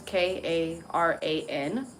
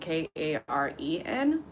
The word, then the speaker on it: Karan: First of all, first of all, the name was Karan. It wasn't Karen. So I'm assuming that, and it looked like an Indian dude. So I'm assuming that it's pronounced not Karen, like a fucking white lady in America. It's Karan or something.